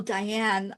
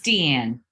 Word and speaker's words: Deanne: Oh, Diane, I'm just so excited to talk. Is it Deanne or Diane? It's Deanne. Thank you for asking.